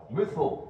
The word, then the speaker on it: Muthil: Muthil, right, now we know.